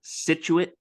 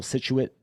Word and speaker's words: Scituate: right outside of Boston in the town called Scituate Massachusetts and um it's funny because if you